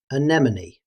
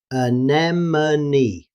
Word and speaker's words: anemone: Now let's turn to another tricky one, anemone. In British English, anemone. But in faster speech, the middle vowel can become very weak. Anemone.